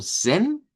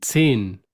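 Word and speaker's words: zehn: hacer como eh zin, si la vamos a hacer como zen, si lo vamos a hacer como zen, así sin el vocal, ¿eh? Y pues para ello, para mí que lo más sano es que lo pronunciemos como hemos escuchado el número 10, ¿ve? Y si el número 10 lo hemos escuchado como zin, así zin, con una i larga.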